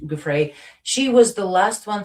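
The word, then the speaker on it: Giuffre: Yeah, Guthrie, Gouffre or something.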